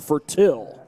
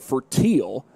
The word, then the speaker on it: Fertil: I do have to apologize because in past years I had pronounced it for teal. Sideline warning against Snider. I pronounced it for teal in previous years because somebody had somebody had told me that's how it was pronounced. But Snyder sent a production or excuse me, pronunciation sheet and the pronunciation looked like it was fertil.